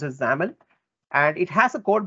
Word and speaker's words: XAML: form and as i've already mentioned it is pronounced as xaml and it has a code behind file for